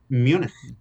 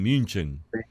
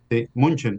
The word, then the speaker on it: München: el tratado de Munich fíjate como lo pronuncié Munich no está muy bien münchen munchen munchen entonces el tratado de